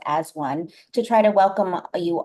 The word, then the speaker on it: A-1: called as one um spelled A-1 but pronounced as one to try to welcome